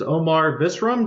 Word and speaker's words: Omar Visram: And today, my guest is Omar Visram.